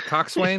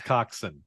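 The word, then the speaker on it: coxswain: to pronounce that right is it Cox way or is it co no it's coxen party on Co coxen my bad bosen and coxen even though they're not spelled anything like that all right no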